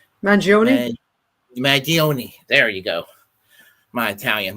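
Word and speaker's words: Mangione: mag mag mag mag mag I can never pronounce this last name mag magioni there you go my Italian my apologies to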